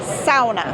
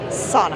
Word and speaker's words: sauna: It is pronounced sauna, not sauna.